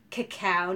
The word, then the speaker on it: cacao: the cocoa nibs and the gal said cacao nibs like I didn't hear you until you pronounced it right so anyway they're cacao